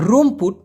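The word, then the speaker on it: rumput: তো এই লালাং মানে হচ্ছে মূলত সন আর রুমপুত যদি বলা হয় রুমপুত আর ইউ এম পি ইউ টি উচ্চারণ হবে রুম পুত রুমপুত এই রুমপুত মানে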